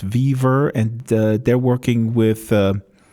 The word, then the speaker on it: WeVR: He's of course the co-creator of VRML back in 93, 94, and he has a new job at WeVR, or I think it's pronounced Viver, and they're working with the HTC Vive.